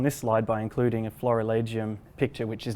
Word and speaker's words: florilegium: What is a Florilegium? So literally the Latin term Florilegium, or in a more classical pronunciation, Florilegium, is something that we call a gathering of flowers.